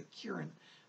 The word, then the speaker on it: Kiran: around this K I are a in he pronounces a Kiran but Kiran is one of your spirit people